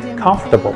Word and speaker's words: comfortable: comfortable on her table now the word comfortable has nothing to do with tables so you should you